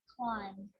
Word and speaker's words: climb: practice them with me i'm not pronouncing the b i'm just pronouncing the m consonant sound climb from lamb thumb dumb